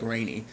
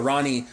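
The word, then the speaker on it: Rani: different like every time sometimes i'll correctly pronounce it as like ronnie i know other times i'll be like rainy but ronnie um and him were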